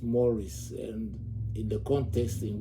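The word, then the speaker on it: mores: m o r e s is actually pronounced pronounced moris and in the context in which it is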